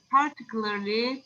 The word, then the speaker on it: particularly: We do a lot of things together, particularly preparing food and eating it, of course. Okay. Particularly, so the stress is on the second syllable.